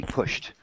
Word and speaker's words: pushed: It is T, pushed. The SH sound is always T.